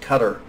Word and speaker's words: Qatar: think probably now Qatar qadar it's pronounced Qatar and some others and